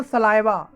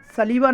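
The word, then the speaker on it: saliva: और लार को दोस्तों इंग्लिश में बोलते हैं सलाइवा। ध्यान रखिए दोस्तों, इसको सलाइवा के सलाइवा कह करके प्रोनाउंस करते हैं, सलीवा नहीं बोलते, इसे सलाइवा बोलेंगे।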